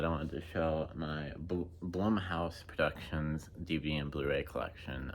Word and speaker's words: Blumhouse: Blu-ray collection um i' I never know if it's pronounced Blum House or Bloom house I'm I'm pretty sure it's Bloom house only more towards Bloom house anyways but yeah I'm